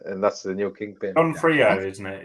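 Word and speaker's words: D'Onofrio: Donofrio, isn't it? It's Donofrio.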